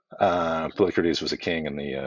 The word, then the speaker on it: Polycrates: Anyway, rhymes with Socrates, more or less. Uh, Polycrates was a king in